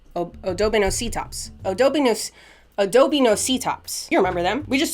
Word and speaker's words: Odobenocetops: Odobocinetops. Odobenocetops.